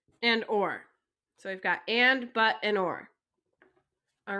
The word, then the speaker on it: et: is a a and it's pronounced like the letter a so i'll write off